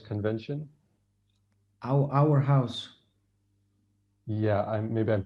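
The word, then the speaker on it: Aarhus: are you familiar luis about this no the our house convention our house yeah i'm maybe i'm pronouncing that bruce it's a danish city and how you say it our house okay now i'm not aware of it sorry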